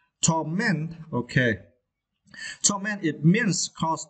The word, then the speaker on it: torment: And for this word, you need to stress the second syllable, torment, okay.